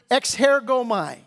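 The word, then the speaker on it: ἐξέρχομαι: That word come out, in the Greek, it's the word exhergomai. That's in the Greek. Good luck spelling it. I'm good enough I can even pronounce it. Exhergomai is the right pronunciation of it.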